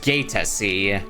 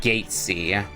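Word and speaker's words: Gaete: It's pronounced Gatei, not Gatesy.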